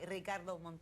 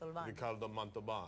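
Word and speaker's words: Ricardo Montalbán: honoring rro Ricardo monan you can't say his name you have to say Ricardo monan Ricardo monan and then you should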